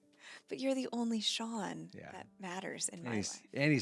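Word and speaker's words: Shaen: wouldn't do that cuz nobody could pronounce it it's spelled s h a n spells Shane right so my whole life I've been Shane I've been Cheyenne I've been shisen I've been the craziest names anything but Shawn yeah right cuz it's scen sea n and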